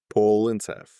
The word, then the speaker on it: Polyntcev: And your surname is pronounced? Polyntcev.